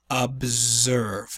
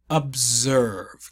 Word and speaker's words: observe: to observe up serve observe make sure this s is pronounced like a Z this is Azusa observe a significant observe are